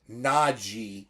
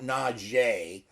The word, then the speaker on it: Najee: line that Naji Harris Naji not Najee all right correct pronunciation folks the man's name is Naji Naji Harris has only